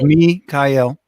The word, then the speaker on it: Mikhail: to get your name mikhail just said it's three syllables me kyle mikhail that's a really nice